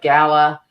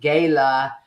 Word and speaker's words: gala: like tomato tomato Gaya Gala well I'm a I'm just an old little girl from Sous City Iowa and we pronounce it Gayla but I know in certain parts of the country it's Gala so with that I'm